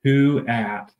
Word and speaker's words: Kuat: question right off the bat the name is pronounced C at so fanatically you might see it as k